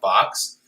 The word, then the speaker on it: XOB: So we look like MoCA and MoMA, but it's just pronounced box.